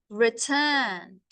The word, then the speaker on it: returned: 24 years later, he returned. Don't pronounce the E. Returned. It's nd.